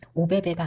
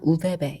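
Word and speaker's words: ÖBB: 여행을 계획하신 분들이라면 무조건이 우베베 어플은 꼭 다운받으셔야 됩니다 여기서 말하는 오 위에이 따옴표 두 개가 표시돼 있잖아 여기서 발음은 우루 하더라고요 베베가 아니라 우베베 이렇게 발음을 합니다 그래서 어플로 들어가 보시면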